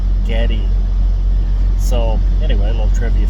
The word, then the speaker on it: Geddy: His name was actually Gary, but she pronounced it Geddy.